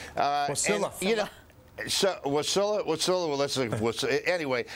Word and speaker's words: Wasilla: And she also hired lobbyists to get $27 million in earmarks for Wallissa, if I think that's how you pronounce where she's from. Wasilla.